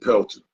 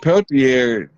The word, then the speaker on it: Peltier: was the release of Leonard Peltier. I think is how you pronounce his last name, from the AIM, and I want to say it was at Wounded Knee, right?